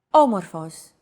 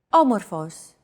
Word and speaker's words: Όμορφος: Did you notice the accent mark above the first letter? There is only one type of accent mark in modern Greek, the acute accent. It adds stress to a syllable.